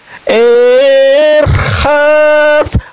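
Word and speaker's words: אֶרְחַץ: Ini pakai ini het Pak Bomom, dibacanya seperti huruf kho. Erkhas benikayun kapai Pak asobeba mizbahaha Adonai.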